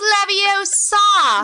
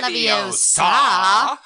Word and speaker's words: Leviosa: It's pronounced Leviosa. Not Leviosa. Idiot.